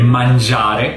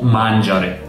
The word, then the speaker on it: mangiare: Posso dire mangiare, corretto, o mangiare, sbagliato, perché ho messo l'accento nel posto sbagliato.